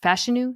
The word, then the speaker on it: Fashanu: line we praised the drafting of Olu f fashanu is how you say his name fashu uh